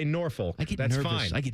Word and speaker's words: Norfolk: Norphick is how you say it, but you would just say Norfolk.